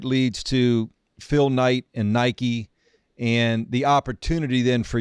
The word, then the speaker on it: Nike: I used to call Nike, you know, Nikki. That's how I, you know, I never knew how to pronounce it.